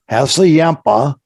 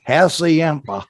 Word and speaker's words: Hassayampa: See, that's that Midwest term. That's how you pronounce it in the Midwest. Yeah, but see, I pronounce it with the Navajo pronunciation, which is probably what it is, I would guess.